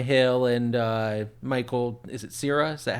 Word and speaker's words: Cera: Is it Cera?